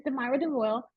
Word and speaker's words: Deyra Deo: right thank you uh deira Dev Deo and I hope I pronounce that correctly hi it's deyra Dev deyra deyra yes and um well my name is deyra deo I'm the owner of